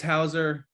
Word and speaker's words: Hauser: game to watch um the other line was hauser is that how you say it i i